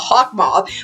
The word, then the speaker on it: Hawkmoth: big bad is hawkmoth now it's weird because i say it like that because that's how they say on the show the americans are half mart but i say hawk moth because i'm bloody british so i have to